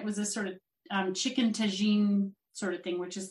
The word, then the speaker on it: tagine: Can I ask, where is chicken tagine? Is that how it's pronounced?